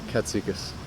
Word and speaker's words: Katsikis: Katsikis. Katsikis?